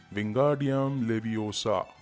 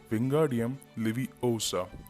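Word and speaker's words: Wingardium Leviosa: उसे प्रोनाउंस करता है विंगार्डियम लेवियोसा, विंगार्डियम लेवियोसा। Hermione उसे रोकती है और उसे कहती है कि इसे ऐसे नहीं कहते हैं, इसे कहते हैं विंगार्डियम लेवियोसा, ना कि ओसा।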